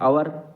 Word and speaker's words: hour: आवर, HOUR, अपर बोलते हैं इसको, हवर नहीं बोलते। तो एच इसमें साइलेंट रहता है, जिसका उच्चारण नहीं होता।